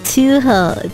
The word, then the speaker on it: Touhou: Battle Network for real it's pronounced Toho Toho wait is it oh